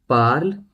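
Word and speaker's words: parle: और जहां तक प्रोनाउंसिएशन की बात है, प्रोनाउंसिएशन ज, ट्यू, इल एल और इल एल प्लूरल, इन सभी के केस में हमारी प्रोनाउंसिएशन सेम रहेगी। पार्ल, पार्ल, पार्ल, पार्ल।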